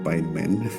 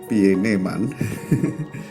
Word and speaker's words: Pieneman: Kalau di Inggris bacanya Pieneman. Pieneman, kalau orang Jawa baca Pieneman.